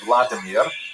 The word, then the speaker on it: Vladimir: one of its leaders pronounced in Russian Vladimir uh shown here in a statue overlooking the Denipro River that runs through the middle of cave.